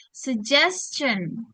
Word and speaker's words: suggestion: suggestion ini jadinya bukan G lagi ya, tapi jadi J. Sugestion. Sugestion.